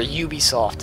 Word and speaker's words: Ubisoft: So, or Ubisoft, that's how you pronounce the name.